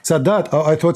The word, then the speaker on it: Sadat: And this started with Sadat in Egypt.